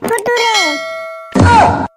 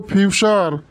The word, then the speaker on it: future: স্যার FUTURE এটার উচ্চারণ হবে ফুটুরে। হ্যাঁ, বলিস কি রে তুই? FUTURE এটার উচ্চারণ হবে ফুটুরে। আরে মূর্খ, ওটার উচ্চারণ ফুটুরে হবো না, ওটার উচ্চারণ হবো ফিউচার।